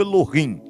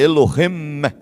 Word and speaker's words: Elohim: fala né É porque não é Elohim é Elohim esse Men esse Men ele tem essa essa questão sim no na pronúncia né eu mesmo pronunciava errado falava Elohim Elohim né Elohim né que tem essa questão no final então Eh Só que tem